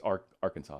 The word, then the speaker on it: Arkansas: And by the way, it's Arkansas. I just want to correct you. You're saying your state name wrong. Anyway, kidding. It's Arkansas. That's how you say it.